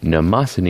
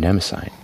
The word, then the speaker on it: Mnemosyne: meet the Mondamin Mona Mnemosyne II with like a Japanese accent because it's Japanese brand I don't know why